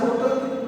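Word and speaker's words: hotel: एन होटल, अभी grammar के हिसाब से होटल, होटल के पहले एन लगेगा, क्योंकि यहाँ पे साइलेंट है। यहाँ पे एन हिस्टोरिकल, यहाँ पे पार्शियल रूप में प्रोनाउंस किया जाता है, इसलिए ग्रामेटिकली एन का प्रयोग होगा।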